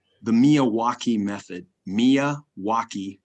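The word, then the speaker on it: Miyawaki: the milwaukee method mia wacky method spell it phonetically and you'll get it right m-i-m-i-k-m-i-y-a-w-a-k-i milwaukee method and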